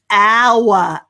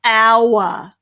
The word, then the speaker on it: hour: ow ow well done we don't pronounce the h at all there do we it's just hour hour well done perfect very